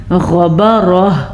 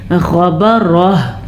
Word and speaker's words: غبرہ: غبرہ، غین کا تلفظ ٹھیک طریقے سے ادا کریں اور را کو پر پڑھنا ہے اور آخر میں ہا کی آواز ضرور آنی چاہیے. کیسے؟ غبرہ.